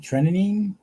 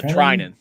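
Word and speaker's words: Treinen: how do you say his last name blake trinity uh trynan thank you so much kenny we truly appreciate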